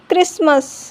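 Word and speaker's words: Christmas: Often, listen, castle, wrestle, soften, क्रिसमस। ई silent, ई कब silent होता है?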